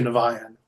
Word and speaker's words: Niviane: already named prior to Nan which is how we pronounce it he had a band